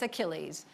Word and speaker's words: Achilles: Now, I know you all know how to pronounce that word, but when I first saw it, I thought it was a child's when I was like 7 or so. It's Achilles.